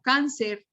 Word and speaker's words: cáncer: digo árbol sino árbol no digo cáncer sino cáncer ya estoy notando fonéticamente y auditivamente que la sílaba tónica va sobre la antepenúltima silva sobre la penúltima sílaba pero penúltima si lo